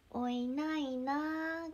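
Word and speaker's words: おいないなぁ: おいないなぁおいないなーが正式な発音ですおいないな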